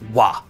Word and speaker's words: は: you can see that it's written with the hiragana for ha, but it's actually pronounced as wa, always, when it's used as a topic marker.